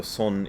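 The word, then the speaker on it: 선: sun master subal so son is how the koreans pronounce the same character that the japanese pronounce zen and that the chinese pronounce chan that's a son in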